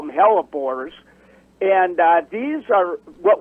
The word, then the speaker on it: hellebore: what's the um how do you say it hellebore how do you say that teleport yeah calibori okay the botanical name is hello boris but we all call them hellebores and uh these are what we call lenten